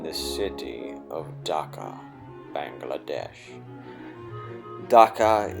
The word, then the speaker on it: Dhaka: city of dhaka bangladesh dhaka is pronounced dakka dakka or daca its name was romanized